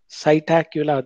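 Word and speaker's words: Psittacula: So Corvus is the scientific name of crow, Columba, pigeon, Cytacula, P is silent there, that is scientific name of parrot, Struthio, scientific name of ostrich, Pavo cristata, scientific name of peacock.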